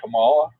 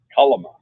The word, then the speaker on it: Kalama: Is it Kamala? No. No. Oh, I said it wrong. It's Kalama.